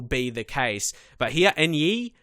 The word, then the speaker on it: Enyi: But here, Enyi, I believe that's how you say his name now.